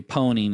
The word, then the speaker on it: pwn: And so it's become a joke in the industry that we pronounce it, or we say pwning instead of owning a system.